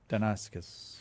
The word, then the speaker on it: Deinonychus: Deinonychus. Right. I think so. I just pronounce it with the old Greek pronunciation.